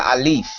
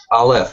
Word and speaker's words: aleph: You know, it's the transition from not the Alpha, man. You're not even pronounce. It's called the Aleph. Aleph, yeah, but the Greek in Hebrew, there's a theory that.